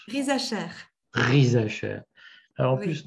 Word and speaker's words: Risacher: Nancy, alors, c'est Rizacher que ça se prononce? Rizacher.